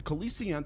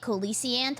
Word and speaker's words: coelacanth: The Coelacanth had been playing the ultimate game. Wait, that's how you say it, Coelacanth? Why the hell have I been saying Coelacanth my entire life?